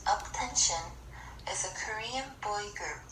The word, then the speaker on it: UP10TION: keep crush interview with attention attention pronounced attention as a Korean boy